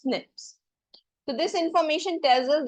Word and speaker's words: SNPs: This is known as SNPS that is single nucleotide polymorphism which is pronounced as snips.